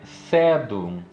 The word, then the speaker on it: Sedum: Ela proíbe a pronúncia como tônica da última sílaba. Olha só. Ou seja, não existe oxítona. A última sílaba nunca é tônica. Ela não é oxítona, que a gente chama, né? Então sempre vai ser sedum ou sedum. Entendi. Nunca sedum.